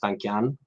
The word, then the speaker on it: Tankian: The emphasis is at the end, like the singer Serj Tankian from System of a Down.